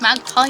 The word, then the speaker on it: MagPi: we got this magazine yes from magpie uh pronounced magpie magpie my p.i.g oh nevermind whatever one wait